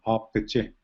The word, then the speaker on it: Apje: And then Apje, so that first A, in this instance, A is a long A sound, Apje.